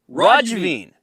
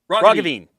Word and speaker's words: Roggeveen: Liberal Party leader John Roggeveen. Roggeveen. Yeah, the second one is a little He gave me both pronunciations. yeah, it's those hard G's. It's you can blame the Dutch.